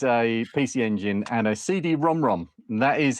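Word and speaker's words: CD-ROM²: PC Engine and a CD Rom Rom. That is how you say it. It's a CD Rom Rom, yeah. Because it actually says CD Rom squared. It's got the two next to it.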